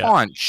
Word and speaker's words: conch: Oh, speaking of which, it is pronounced conch, Yeah, not yeah. conch. Yeah, you shut your Don't mouth even when you're try talking and to me. troll us with that. It's conch.